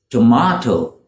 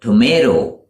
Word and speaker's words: tomato: This is tomato in the UK, but tomato in the US. Tomato, tomato.